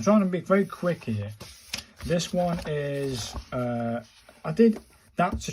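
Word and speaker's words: へ: This one is H-E, as in Helen. So it's a he, and it's a he sound, I suppose.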